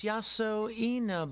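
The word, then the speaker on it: Yasoinaba: How am I supposed to pronounce that? Bah? Oh, it's written beneath the kanji. It's Yaso Ina, but wait, where is this?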